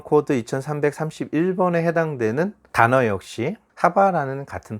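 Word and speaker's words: חַוָּה: 원래 하와의 발음은 하바라는 발음을 가지고 있죠.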